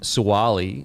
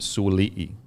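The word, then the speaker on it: Sua'ali'i: so apologies but sualii i think sowali is actually pronounced sulii so kind of like papalii now please let me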